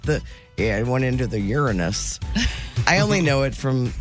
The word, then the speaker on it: Uranus: Where did I hear about the new moon for Uranus? The Courtney show. Wait, how did you pronounce it?